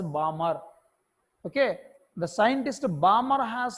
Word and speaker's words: Balmer: So here the letter L is silent in pronunciation. It is pronounced as Balmer.